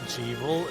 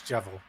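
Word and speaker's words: Jevil: I used to pronounce it Jeevel, and then fucking Lily's like, no, it's Jevel. It's No, Jester and Devil. It's Jester and Devil, and it's Jevel.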